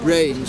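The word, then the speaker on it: branes: They now talk about what they call brains, which is spelled B-R-A-N-E-S.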